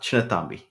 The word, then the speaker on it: Chinnathambi: It's pronounced Chinnathambi. Chinnathambi.